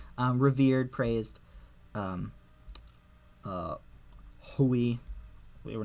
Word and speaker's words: ḥwj: here um um it's egyptologists will just pronounce this Hui because they see an h and W and I even though this is not an i it's a vowel placeholder um all right um